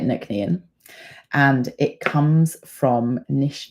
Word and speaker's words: Nc'nean: how to say it so we say it Nan and it comes from